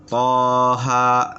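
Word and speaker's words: طه: Kemudian huruf setelahnya, ya, ini toha. Jadi gitu aja, toha. Ya, dua harokat. Tidak boleh panjang, tidak boleh dipanjangkan. Cukup dengan dua.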